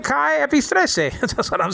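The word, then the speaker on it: καί: And Greek or Kai, nowadays pronounced K in modern Greek.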